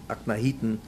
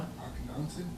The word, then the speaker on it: Akhenaten: Because later on I read that he restored all the Avodah Zarah that his father-in-law, I think Akhenaten, his father, what? Akhenaten? Yeah, but they're different pronunciations of the name.